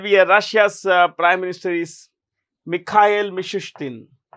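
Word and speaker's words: Mikhail Mishustin: Vladimir Putin well we Russia's prime minister is mik mishustin mik mishustin this is the name of the Prime Minister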